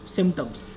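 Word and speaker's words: symptoms: SYMP होता है, P यहाँ पे साइलेंट होता है, ठीक है, TOMS, सिम्टम्स।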